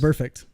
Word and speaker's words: Vontaze Burfict: Burfict.